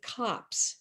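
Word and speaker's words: copse: long kind of ridges that is called a cops even though spelled the same way as a little woodland c-o-p-s-e and it was an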